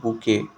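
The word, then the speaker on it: bouquet: उसको क्या बोलते हैं, बुके। यहाँ पे QUET जो है वो वर्ड को हम लोग प्रोनाउंस करेंगे KAY, ओके के तरह।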